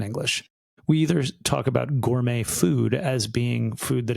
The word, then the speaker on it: gourmet: Gur is gourmet. Gourmet. Gourmet in English. Yeah. So, you don't pronounce tea.